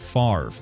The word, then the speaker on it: Favre: and you pronounce it Favre. So you still pronounce the R and the V, you just pronounce them in opposite orders of how they're spelled.